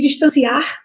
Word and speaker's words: distanciar: Nós não podemos confundir distanciar, que tem sílaba forte, ar, com distância.